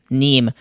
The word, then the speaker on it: Nîmes: On se retrouve à Nîmes en France parce qu'on a regardé comment ça se prononce Nîmes parce qu'il y a un S, puis je pensais que c'était Nimes, mais non, c'est Nîmes.